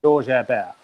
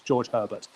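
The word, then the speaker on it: Georges Hébert: original ones were 7, and that's, if anyone wants to look him up, including yourself, his name is George Herbert, or phonetically in English, George Herbert.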